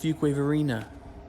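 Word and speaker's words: Fuquay-Varina: let's finish him up it's pronounced Fuquay Varina hello marched work took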